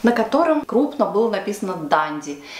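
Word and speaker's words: Dundee: Не Дунди, как все русские говорят, а Данди. Произношение проверено с англичанами.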